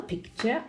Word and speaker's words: picture: Now, group 1, all of the words have the schwa, no, picture, architecture, because none of them have the stress on the U-R-E syllable.